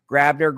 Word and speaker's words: Grabbner: That was Lincoln Grabbner. That's how he pronounces it. I did check before the show. G R A B N R. He pronounces it Grabbner.